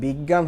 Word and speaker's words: বিজ্ঞান: বিজ্ঞান, এখানে বীজ আন এইভাবে চিন্তা করেন, তাহলে বিজ্ঞান হচ্ছে বর্গীয় জ যুগ ইয়, এইটার নিচে একটা হসন্ত হয়, হসন্ত হলে জ্বর, অটা উচ্চারণ হবে না, বীজ আন এইভাবে হয়ে যাবে বিজ্ঞান আসলে মূলত।